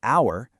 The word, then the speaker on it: hour: In the word hour, that H at the beginning, gone. And in write, you don't hear the W.